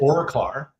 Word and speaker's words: Auroclara: Auroclara. Uh, like aura, you know, golden, and clarus, clarity.